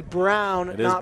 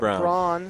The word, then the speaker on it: Braun: Twitter we appreciate it it's actually Braun Braun so we apologize on